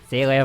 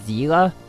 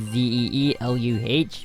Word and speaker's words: Seele: Initially, I was told that the real pronunciation is Seele, like phonetically it'd be Zeeluh, but apparently it's not. I got one of the recent comments saying that it's actually like how the Japanese version pronounces it.